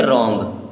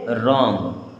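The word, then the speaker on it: wrong: तो कैसे सही होगा अब डब्लू आर ओ एन जी अब डब्लू हो जाएगा यहा पर साइलेंट तो इसे क्या पढ़ेंगे रंग क्या पढ़ेंगे रंग एच ई आई जी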